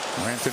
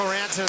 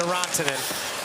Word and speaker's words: Rantanen: I told Mikko Rantanen this morning, you know, to get him going, I might switch the pronunciation. I know it's not correct of his name to Rantanen, so I'm doing it.